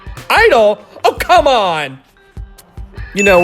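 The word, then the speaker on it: (G)I-DLE: Open parentheses G, close parentheses I, hyphen DLE. It's girdle, right? Definitely girdle. I-DLE?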